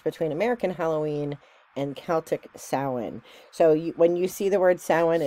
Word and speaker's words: Samhain: American Halloween and Celtic sowin so you when you see the word salmon and it's actually not spelled the way that it sounds it actually is spelled Samhain s-a-m-h-i-i-n but it's pronounced Salin so um this is